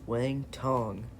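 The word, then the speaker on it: Wang Cong: But next fight of the night, Tracy Cortez versus Wang Tong.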